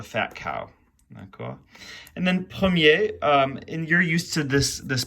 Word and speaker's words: premier: way, cher and cher, but with premier in the masculine, c'est mon premier jour. It's my first day, so c'est mon premier jour. D'accord. But if I want to say it's the first time, c'est la première fois, and you do pronounce the R there.